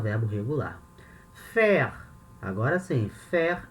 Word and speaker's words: faire: O verbo no infinitivo, faire, esse R no final ele tem uma pronúncia, faire, e o particípio fait.